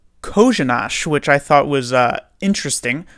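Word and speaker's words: Kořenář: You would see this name and you would think, okay, this reads like Coronar, but is in fact pronounced, if Randy Hahn is to be believed, Kozhinash, which I thought was interesting, certainly.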